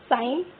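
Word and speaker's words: sign: साइन, साइन में जी साइलेंट होता है।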